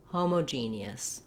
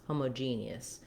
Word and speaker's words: homogeneous: genie yes it's simple it's similar to the word genius but we don't reduce this knee so you have to do the three syllables genius and then the letters o both do say the o sound they're going to go by quickly though in this word homogeneous homogeneous so again starting with